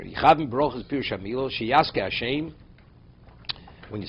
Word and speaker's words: Hashem: There's no word Adoshem. Hashem means the name.